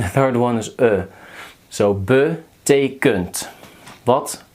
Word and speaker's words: betekent: The first is the second one is pronounced as e, and the third one is So betekent. Wat betekent dat?